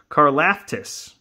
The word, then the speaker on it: Karlaftis: Ooh, and then we have a George Karlaftis. That's how you pronounce that.